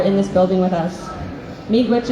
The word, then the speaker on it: Miigwech: Miigwech is how you say thank you in my language.